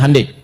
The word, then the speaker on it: Hyundai: Ya Hyundai saya tahu bahasanya, dibacanya Hyundai.